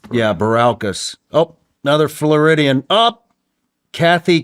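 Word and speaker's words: Bilirakis: Baralkas? Yeah, Baralkas.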